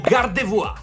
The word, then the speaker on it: Gardevoir: e fra questi abbiamo gardevoir Miu e Charizard perché Sì lo pronuncia alla francese che fa più figo e almeno una di